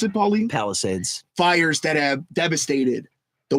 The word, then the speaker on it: Palisades: How do you pronounce it, Pauline? Palisades.